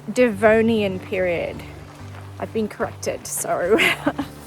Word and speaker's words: Devonian: And hang on, as usual, I'm mispronouncing stuff. It's Devonian period.